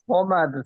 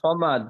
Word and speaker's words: صمد: বিসমিল্লাহির রহমানির রহিম কুল হুয়াল্লাহু আহাদ আল্লাহুস সামাদ লাম ইয়ালিদ ওয়া লাম ইউলাদ আল্লাহু সমাদ সমাদ এটা সামাদ নয় সমাদ পড়েন। কুল হুয়াল্লাহু আহাদ আল্লাহুস সামাদ লাম ইয়ালিদ ওয়া লাম ইউলাদ ওয়া লাম ইয়াকুল লাহু কুফুয়ান আহাদ।